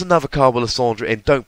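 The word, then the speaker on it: Lysandre: Lysander is misreading it because it ends RE not ER.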